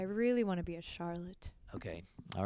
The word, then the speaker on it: Charlotte: reminds Very me famous of Charlotte. artist. Okay. And Charlotte's. It rhymes with harlot, but she's not that one.